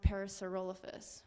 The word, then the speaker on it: Parasaurolophus: Or I'm gonna use this as a tool to look up this cool thing about how to pronounce Parasaurolophus, which is how you pronounce it, in case you're wondering.